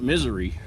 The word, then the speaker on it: Missouri: hey bob snowing in missouri okay maybe i should pronounce that misery chicago okay missed that